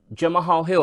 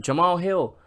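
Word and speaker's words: Jamahal Hill: feel less important like John Mahal Hill I said his name wrong again Jamal Hill fighting for a belt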